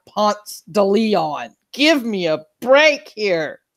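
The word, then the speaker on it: Ponce de León: go, well, yeah, and then you get to Ponce de Leon and you turn to left.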